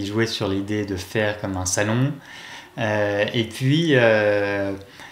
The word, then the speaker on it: Faire: Comment on la prononce en anglais ? Faire.